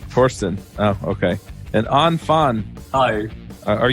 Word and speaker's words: Thorsten: also core team member the H is silent yeah Torsten Torsten okay a non-fun eye